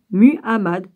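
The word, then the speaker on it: Muhammad: de mohamed se séparent mu hamad on se prononce comme ça en portés par gabriel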